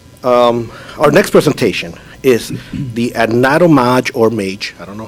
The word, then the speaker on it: Anatomage: Anatomage, yes. Anatomage.